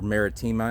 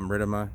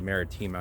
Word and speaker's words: maritima: enough to be or marítima as it actually would be pronounced in latin i called martoma and i have been